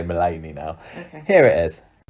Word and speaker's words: Mullaney: I can't pronounce everything, but I know how to say Mullaney now.